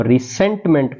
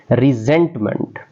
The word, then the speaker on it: resentment: अक्सर इस लफ्ज़ को रिसेंटमेंट पढ़ जाते हैं, जो कि गलत प्रोनाउंसिएशन है। रिजेंटमेंट, रिजेंटमेंट, jealousy.